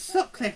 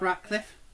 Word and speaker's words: Sutcliffe: It's Sutcliffe, not Ratcliffe.